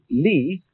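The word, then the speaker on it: 理: wood or the fiber in muscle and it's pronounced Le this is a character then meaning really the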